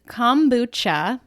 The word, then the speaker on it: kombucha: So it is kombucha, but I've heard just about every variation possible of that word, and whatever you call it, it doesn't matter. It's all the same.